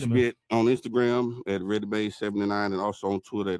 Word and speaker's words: Redimade: me on Instagram at ReadyMade79 and also on Twitter at ReadyMade79. Spell it out for him, man.